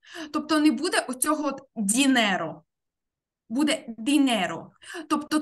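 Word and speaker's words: dinero: Тобто не буде оцього от дінеро. Буде дінеро. Тобто трошечки-трошечки твердіше вимовляємо звук Д, після якого стоїть І. Дінеро.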